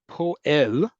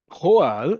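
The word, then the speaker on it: פועל: A poel is a worker. Poel. Come on, there we go. Poal, spelled the exact same way in Hebrew and pronounced differently, is a verb.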